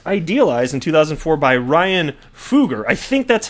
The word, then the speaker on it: Fugger: Ripple was first idealized in 2004 by Ryan Fugger. I think that's how it's pronounced. I've heard it pronounced Fugger and Fugger. I think it's Fugger, even though that's not what it looks like.